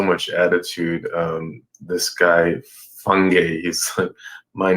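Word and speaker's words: Fangy: Uh growing up with the last name fan a n g y and it to be pronounced fungi which is not much better.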